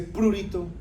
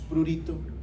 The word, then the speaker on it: prurito: Prurito, no se dice prurito, es prurito. Los que dicen prurito están llevados de putas porque no saben nada de español. Si fuera esdrújula te llevaría tilde siempre y no lleva tilde.